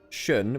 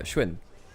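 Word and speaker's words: Xun: Apparently it's less like shun, which is the way I say it. More like a shwin.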